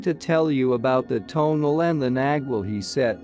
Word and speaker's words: tonal: Mexico I knew that the tonal pronounced tonal was thought to be a